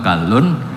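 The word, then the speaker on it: كَلّ: "masala rajulaini ahaduhuma" Pengucapannya adalah "kallun."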